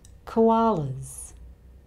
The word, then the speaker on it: koalas: The sound before the plural S is a vowel sound, the schwa sound, so the plural S here sounds like a Z. Koalas.